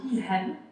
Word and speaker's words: Ilham: En arabe, on dit Ilham.